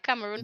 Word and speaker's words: Cameroon: Do could you tell us a little bit about Cameron project, if I'm pronouncing it Cameroon. properly? Right, Cameroon Yes.